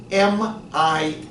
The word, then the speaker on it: Mia: Your name is spelled M-I-A, Yes, but it is. pronounced Mia. Why is it not Maya?